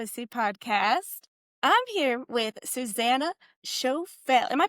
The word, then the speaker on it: Suzanna Choffel: I'm here with Susanna Chael. Am I pronouncing that correctly?